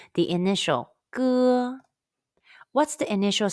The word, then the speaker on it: 歌: Then remove the S and the T sound. Say 歌. Be sure to use the muscle at the very back of your tongue and your throat to pronounce the 歌.